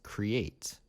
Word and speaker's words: create: So create, create, create. You can hear the Y in the middle.